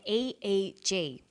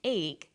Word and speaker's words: EEG: or an acronym an eeg brain scan helps answer that say the swinburne researchers he says an e e g that's an abbreviation we don't pronounce it egg we say e e g eeg stands for electroencephalograph